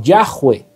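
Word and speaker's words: Yahweh: estas cuatro consonantes y se creó algo que se podría pronunciar como yahwe y después de ahí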